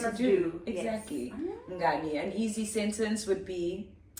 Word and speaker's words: mngani: So the word is friend in Zulu, which is mngani. Mngani. Mngani. Fabulous. Yes. Mngani. Yes. And how do you spell that, friend?